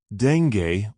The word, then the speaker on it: dengue: These insects may only weigh a few milligrams, but they pack a punch transmitting diseases like deni fever to millions each year. Deni or deni as it's sometimes pronounced isn't just a bad fever.